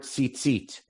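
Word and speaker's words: ציצית: But we pronounce it as if there's a second yud, correct?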